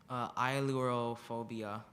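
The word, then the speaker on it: ailurophobia: Ilorophobia.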